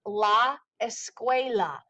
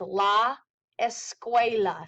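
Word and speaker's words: la escuela: things plural all right so one school is La esqua again write down the pronunciation because you're going to have to know how to say these um and listen to these words as well so it's La esqua CU has that qu sound esqua multiple schools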